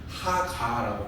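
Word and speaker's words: הגה: 그런데 여기서 말하는 묵상은 히브리 원어로 말하면 뭐라고 말하냐면 하가라고 말 발음합니다.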